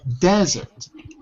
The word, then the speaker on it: desert: Desert. Oh, I'm making a mistake. The second, desert. It's the first syllable.